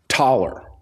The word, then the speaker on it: Thaler: At least I thought it used to be Thaler because that's how it's pronounced. That's how it's spelled. But it's pronounced Thaler. And so if you Americanized the Austrian Thaler, you get dollar.